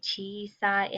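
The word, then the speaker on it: ちいさい: They do stay the same when we say chisai and oki. That's how we pronounce the words.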